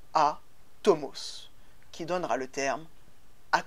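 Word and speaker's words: ἄτομος: est donc indivisible insécables que l'on prononce en grec à tomos qui donnera le terme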